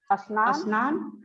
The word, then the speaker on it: स्नान: स्नान शब्द जो है, स्नान में भी हम और नहीं लिखते हैं, वो आधा स से होता है और हम उसे स्नान कहते हैं।